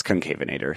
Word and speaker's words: Concavenator: Yeah, I wanted to say Concavenator, you know, or something like very sexy, but it's Concavenator.